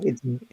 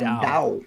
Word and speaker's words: Tao: Dao. It's a D sound. Dao.